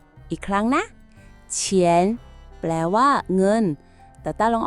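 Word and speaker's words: 钱: เท่า ไหร่ คำ ที่ 2 คำ ว่า เฉียน อีก ครั้ง นะ เฉียน แปล ว่า เงิน ตาต้า ลอง ออก เสียง ดู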